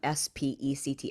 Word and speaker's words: SPECT: I had a specked it's pronounced s-p-e-c-t a spect scan I had that done